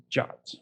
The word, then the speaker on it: JWT: called the JWT or jot it's they actually put the pronunciation of JWT in the spec which I thought was kind of funny so the official pronunciation is jot it can be it's